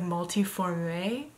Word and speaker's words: glioblastoma multiforme: grade four glioblastoma multiforme there's an e at the end so it's like multi formulae and I heard a dude in a video once pronounce the e but the dude was a British narrator so I don't know if you actually pronounce the e or not but the shorthand